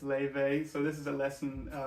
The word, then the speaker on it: Laufey: to say firstly I've been pronouncing um Levy's name wrong in all my other lessons it's I've been saying louthi as it's written and um so I just want to correct that it's Levy so this is a lesson for the witched